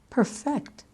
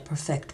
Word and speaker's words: perfect: For two-syllable words that are both nouns and verbs or adjectives and verbs, we tend to accent the first syllable of the noun and the adjective, but the second syllable of the verb.